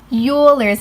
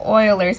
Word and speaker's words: Euler's: to your answer now a first common mistake for this question is pronouncing it Euler's method instead of Euler's method never do that again now that we got